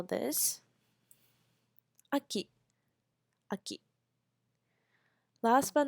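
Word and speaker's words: 秋: slash false we call a key uh Ki Aki winter we say who you who you who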